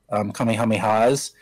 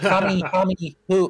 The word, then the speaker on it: Kamehameha: where you could do Kamehamehas, and there were a lot of YouTubers who were completely mispronouncing it. They're like, Kamehameho, or I don't know how they were mispronouncing it.